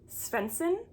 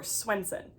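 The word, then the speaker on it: Swensen: I believe how you pronounce her last name is Svensson or Swenson. I always say Swenson, I think it's Svensson.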